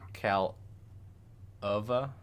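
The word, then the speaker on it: Kaleva: Calova, KAL-UH-VA. Calova. Hopefully that's right.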